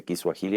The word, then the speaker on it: kiswahili: Yo acabo de entender que así se pronuncia kiswahili, a pesar de que se escribe swahili.